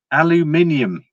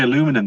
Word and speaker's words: aluminium: Aluminium. I know the Americans say aluminum, don't they? I say aluminium.